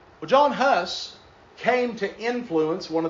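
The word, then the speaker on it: Jan Hus: A man by the name of John Huss. I know it looks like Jan, but it's pronounced John.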